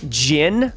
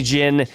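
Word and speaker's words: Djinn: will work in next we've got gin I believe is how you say it d-j-i-n-n on reveal next turn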